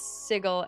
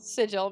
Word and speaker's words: sigil: Matt Mercer used to pronounce sigle as sigle. Sigil as sigle and a critical role bullied him to say sigle. Sigil, man.